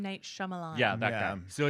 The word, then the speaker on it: Shyamalan: say his name I'm not chamelam M Night Shyamalan yeah so it's his new movie called knock